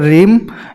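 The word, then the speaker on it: realm: Cultural landscape भूआकृति की, ये सांस्कृतिक भूआकृति, जो ये रीम होता है या परिमंडल होता है, कल्चरल रीम एल साइलेंट है, या सांस्कृतिक परिमंडल, ये बड़े लेवल पर होता है।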